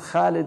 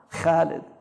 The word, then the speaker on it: خالد: You know, like say Khalid because don't say it like the Arabs say it now. Khalid. Say Khalid because it's حرف مفخمة.